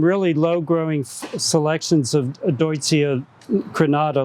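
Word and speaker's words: Deutzia: that uh you know duty is named for a german who would have pronounced his name deutsch so this is deutsche and there are some really low growing selections of deutsche granada like nico and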